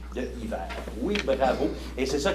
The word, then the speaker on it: hiver: Et dans le mot hiver, la saison, quelle lettre est muette? Pour Annabelle, La H. H de hiver.